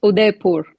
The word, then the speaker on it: Udaipur: How is it pronounced in Hindi? It's Udaipur.